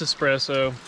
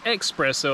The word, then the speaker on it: espresso: espresso we love it in this espresso not expresso like i said a